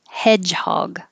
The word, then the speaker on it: hedgehog: finale either way hedgehog this d g is a j and this final g is a g hedgehog bus and that has